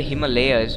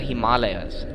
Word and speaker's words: Himalayas: People call it the Himalayas, but it's actually the Himalayas. Because that's how we Indians pronounce it.